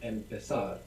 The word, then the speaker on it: empezar: It is a Z, so that's going to sound th in Spain.